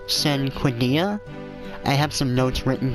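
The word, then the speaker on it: Cinquedea: weapons and we picked up this is actually pronounced sin Quinn dia I have some notes written down for the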